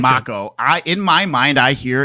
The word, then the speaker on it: Mako: But Corneo, yeah, but that and they call it Maka. It's Mako. I always said Mako energy. They're saying Mako. Yeah, I was like, then spell it Mako. Mako like a Mako shark.